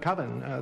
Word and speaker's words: Coven: Coven, that's the proper pronunciation. No. Coven sounds like oven, man, and that's just, it doesn't work.